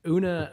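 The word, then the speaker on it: Oonagh: kelly dad cormic oona correct that is the correct pronunciation of that yes o-o-n-a-g-h una una um are all watching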